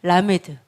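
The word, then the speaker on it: למד: 라메드. 네, 라메드죠. 30번이요. 이번에는 라메드고 리을 발음, L 발음입니다. 리을 발음, L 발음, 라메드예요.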